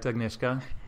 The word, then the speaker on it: Agnieszka: Did I say it right, Agnieszka?